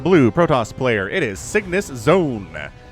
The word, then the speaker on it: CygnusXone: It is CygnusXone, which is how I choose to pronounce the X in CygnusXone as a Z.